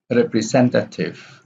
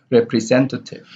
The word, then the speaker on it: representative: innovative innovative informative imperative representative so re here has the secondary stress three representative and sen here has the primary stress now let's continue with